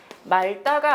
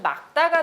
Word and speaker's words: 맑다: 따라서 말다가 아닌 막다가 되는 겁니다.